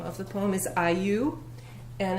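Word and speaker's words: IYOU: So one of my words, and this is actually the name of the poem, is Iyu, and it's spelled I-Y-O-U.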